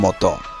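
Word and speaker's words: mes: এরকম ক্ষেত্রে ওএস এর উচ্চারণ সবসময় এ হবে।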